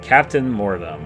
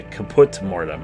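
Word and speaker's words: Caput Mortem: Then we get to Captain Mortem, if I believe I'm saying it correctly. Yeah, Kaput Mortem is what it is.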